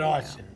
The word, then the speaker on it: Arsen: And then we got Arsen. Arsen? Yes. Did I say it right? Arsen, correct. Yes, Awesome.